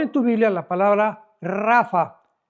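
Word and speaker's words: Rapha: tu Biblia la palabra Rafa. R de Raúl ha de Armando. P de Pedro, H intermedia de Armando. Rapa, pero se pronuncia en el hebreo rafa.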